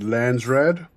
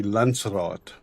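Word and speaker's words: Landsraad: So the way they pronounce it, Lansrad. Um, it just it sounds so funny to me because the correct pronunciation would be Lancerat which did which which directly translated means land council.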